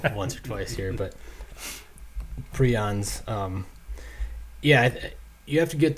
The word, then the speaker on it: prions: every time but you know you talked about prions and proteins and this is not a living